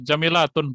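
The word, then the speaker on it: جميلةٌ: Pak, Jamilanya Jamilatun, Pak. Nah iya, jamilahnya harusnya jamilatun. Itu jangan dihilangi tanwinnya. Sa'atuki jamilatun.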